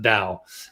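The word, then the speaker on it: Tao: in the pure towel directly in the pure tau or dao state which is a very very high vibrational state you pronounce that definitely depending on where you're from it's actually pronounced dao but anyway um and so if i guess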